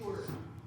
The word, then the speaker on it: sure: time that make a shh sound. Sure. Then we hear an r sound. And then again the is silent at the end. There are three hard parts on this word. It does not sound phonetically correct almost at all.